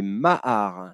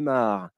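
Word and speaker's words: maar: ces deux lacs sont ce qu'on appelle des mahars. Alors, les mahars, on va demander aux internautes, ça s'écrit M-A-A-R, allez, les internautes, essayez de trouver ce qu'est un mahar.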